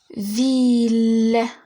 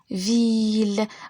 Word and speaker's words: ville: Ville, ville. Regardez, si je prononce le L, je prononce pas I.